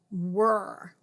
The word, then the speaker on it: were: So this is a very tricky situation where we've got an R-controlled vowel here and a silent E here. Were.